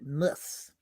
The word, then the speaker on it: Moers: Walter Moers. I'm saying it right. Mus.